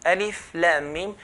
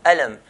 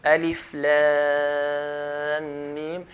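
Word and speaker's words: الم: For example, there's alif, lam, mim. We don't pronounce the word alam, but we pronounce the names of the letters. So alif, lam, mim.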